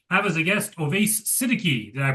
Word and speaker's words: Siddiqui: I'm your host Fasel John Moth and I am Brandon Rhinus and today we have as a guest Oves Sitiki. Did I pronounce that right? Yes. Sitiki.